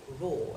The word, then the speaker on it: ROER4D: And the abbreviation is ROER4D, pronounced raw, as in lion raw.